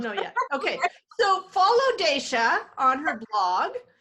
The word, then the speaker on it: Dacia: Daysha is spelled DACIA.